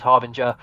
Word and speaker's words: Harbinger: Like, as long as they just made a huh sound at the start, I'm like, yeah, that's us.